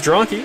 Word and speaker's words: Zronke: relative from this perspective, but it is Zronke, as I've been confirmed on how to pronounce it, so going forward I'll try to get that right.